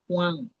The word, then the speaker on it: Juan: Então, em espanhol é Juan. Juan, J. O som da J é o som da R.